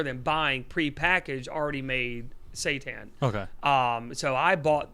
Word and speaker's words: seitan: and savior but uh it's called seitan it's not spelled like satan it's like s-a-i-t-a-n or